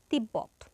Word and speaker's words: তিব্বত: উচ্চারণ বজায় থাকে যেমন তিব্বত এখানে ব ফলাটা মাঝে আছে মাঝে থাকলে ব এর উচ্চারণ বজায় থাকবে তাহলে এর উচ্চারণ হবে কি তিব্বত অর্থাৎ দুইবার উচ্চারিত হলো